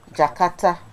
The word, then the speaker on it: J'Karta: yeah is that how you say it jakarta jakarta okay so jakarta is a one-year-old company they